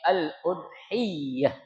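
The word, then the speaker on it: الأضحية: Jadi, kata atau kalimat udhiyah itu ya dibacanya ya dengan mentasydidkan huruf ya. Jadi katanya al-udhiyah ya jangan dibaca al-udhiyah tapi al-udhiah ya. Ada apanya? Ada tasydidnya ya.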